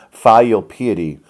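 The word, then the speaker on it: filial piety: a vocabulary word here fail piety sometimes pronounced feel pd is going to be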